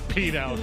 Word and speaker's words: penal: Penal code. Is it penile code or penile code? I would ask Rich. Rich is P E N A L. How do you say that? Penal. Penal. Penal code.